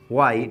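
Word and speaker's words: why: व्हाई, व्हाई, वाई, डब्लू यानी इसमें H silent रहेगा तो वाई पढ़ेंगे, वाई ही वॉज ब्रेइंग, क्यों वह यानी रेंग रहा था यानी चिल्ला रहा था।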